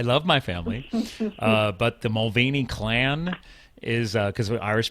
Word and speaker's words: Mulvaney: more Irish than that, if you go to Ireland, which I have, it's actually pronounced Mulvaney, but it's we're a thick clan, man.